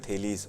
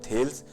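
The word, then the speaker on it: Thales: हुए जिनका नाम है थेलीस, और बहुत से लोग इनका प्रोनाउंसिएशन करते हैं थेल्स, लेकिन इनका रियल प्रोनाउंसिएशन है थेलीस।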